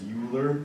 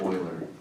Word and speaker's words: Euler: A lot of people read this and they read his name as Euler, but that is wrong. That is incorrect. It's pronounced Euler.